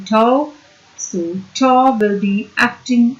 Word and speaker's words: tau: which is given by tau, and tau, this is the symbol for the torque, we call it tau, TAU. This is our symbol tau, and this is, we pronounce it as TAU, tau.